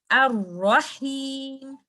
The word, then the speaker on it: Ar-Rahim: I will say Ar-Rahim. Do not add too many Ra's by giving time of Rakhawa like this. Ar-Rahim. Or say it like this. Ar-Rahim. That is with Shidda.